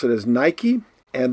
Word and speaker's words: Nike: We pronounce it as Nike, and that is the name of the sportswear manufacturer.